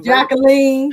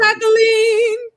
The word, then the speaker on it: Jacqueline: Jacqueline. You playing? Jacqueline. Do you really, Jacqueline? No. I didn't think so. It's the French pronunciation, which is the correct pronunciation of my name, but I say Jacqueline.